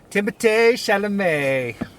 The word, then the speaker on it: Timothée Chalamet: Timothée Chalamet is in this movie, or the French pronunciation is Timothée Chalamet. That's just how they say it in France.